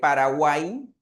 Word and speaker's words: Paraguay: Claro que un joven podría decir, "No, profe, pero en Paraguay, en Guay, ahí se escribe con y, claro, pero el sonido de la y es un sonido de vocal i, entonces lo consideramos, ¿correcto?